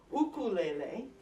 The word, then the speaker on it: ukulele: to get out my ukulele, or as I believe they would say in Hawaii, which is has become associated with this, ukulele. I believe that's how it would be pronounced in the Hawaiian language.